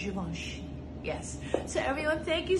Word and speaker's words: Givenchy: Remember to pronounce it correctly because I hear a lot of people say Givenchy or Givenchy. No. It's Givenchy.